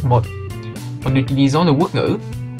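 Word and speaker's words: một: Ceci est le chiffre 1 écrit en homme, ça se prononce mot.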